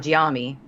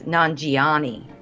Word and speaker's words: Nanjiani: pronounce this stuff so Kumail Nanjiani not jiya me I keep saying no it's Nanjiani I don't know why I'm adding an end there I don't either because